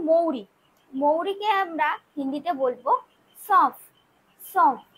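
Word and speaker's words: सौंफ: মৌরিকে আমরা হিন্দিতে বলবো সফ সফ। এখানেও দেখুন যে আমরা উচ্চারণ করার সময় কিন্তু নাকে তোলা উচ্চারণ হচ্ছে সফ। বানানটা হবে দন্তস্বয় ঔকার, এই বিন্দু দিলাম সফ। এখানে উচ্চারণ হবে কি সফ, SAUAF সফ।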